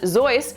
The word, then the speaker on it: Seuss: Seuss, pronounced Seuss, was his mother's maiden name.